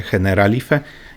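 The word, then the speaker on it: Generalife: Ich nazwy wymawia się Heneralife i pochodzi ona z arabskiego.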